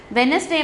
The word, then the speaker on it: Wednesday: வெனஸ்டே மட்டும் pronunciation சில குழந்தைங்க தப்பாக ப்ரொனவுன்ஸ் பண்ணுவாங்க, வெட்னஸ்டேயில் வெனஸ்டே, டி வந்து சைலன்ஸ் ப்ரொனன்சியேஷன்.